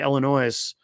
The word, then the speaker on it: Illinois: And uh she would always it would always bother her when she would hear people say Illinois because uh the S is uh silent.